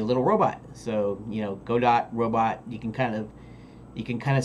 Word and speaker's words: Godot: So I'll pronounce G-O-D-O-T, Godot, if the majority of you say, no, it's pronounced GIF is the proper pronunciation. But if you say Jiff, and you've always said it Jiff, then I'm going to say Go-dott, because that's how I prefer to pronounce it.